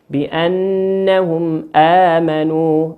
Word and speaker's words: بأنهم آمنوا: الإظهار الشفوي كيف تنطق؟ بأنهم آمنوا، بأنهم آمنوا، تنطق كما هي، بأنهم آمنوا، من غير إقلاب، من غير إدغام، من غير إخفاء.